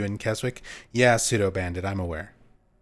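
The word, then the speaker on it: Keswick: You don't pronounce the W in Kzwick? Yeah, pseudo bandit. I'm aware there shouldn't be a W in there if you don't pronounce it.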